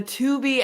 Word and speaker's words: Tubi: And then the Tubi ad.